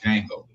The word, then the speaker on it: Django: You know The D is what I'm silent. saying? But, Like the K in knife.